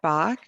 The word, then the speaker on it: Bach: different ways probably but i always tell people it's like the composer right bach yeah right that's what